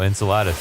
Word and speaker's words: Enceladus: going to Google it quietly maybe that's the pronunciation I can never remember in we talked about before en Enceladus oh Enceladus that's my favorite Mexican food it's the uh